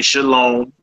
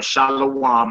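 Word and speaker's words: שלום: know what I'm saying if you say shalom or Shalom or shalawam I know what you saying exactly I'm saying but I can see how Brothers get shalawam out of there you feel me they just pronouncing it without the V so the first word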